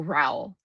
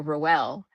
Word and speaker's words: Rowell: So, is it Rowell or is it Rowell? Because I I'm most positive that I looked this up and I saw like her the author herself say like towel.